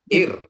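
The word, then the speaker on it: עיר: Jadi kalau dia ada tulisannya ini ayin, iod, R, res. Dia jadi bacanya R atau ir. Menjadi ir.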